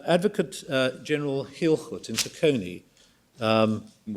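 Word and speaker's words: Taconi: And advocate uh General Hilhut in Takonei. Um uh I don't know how you would pronounce it in English, but in Dutch it probably Takone T A C O N I.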